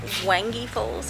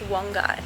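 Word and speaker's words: Wangi Falls: a little bit silly and broken because like wangy falls is such a thing just sounds like australian and bogan when it's actually pronounced one guy so top tip is called wongai falls not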